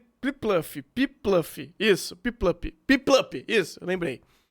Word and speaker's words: Piplup: Puplip. Eu esqueci como pronunciar essa bosta. É o... Pinguinzinho. É. Pipluff. Isso, Piplup.